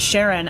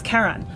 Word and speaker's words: Charon: was Charlene so like I guess the community pronounces it Sharon after Charlene but it's officially named after a you know a mythological figure so and and the correct way to pronounce it in that case is Karen but in in a